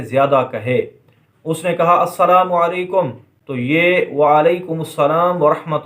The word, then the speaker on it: السلام علیکم: Number 11، سلام اور جواب سلام کا درست تلفظ یاد فرما لیجئے۔ پہلے میں کہتا ہوں، آپ سن کر دہرائیے، السلام علیکم ورحمۃ اللہ وبرکاتہ، اور جواب میں وعلیکم السلام